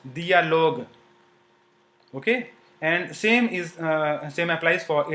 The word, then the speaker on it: dialogue: So in dialogue, you will not pronounce u. It is just to say that j is pronounced as g and not j, okay. So this is pronounced dialogue, okay.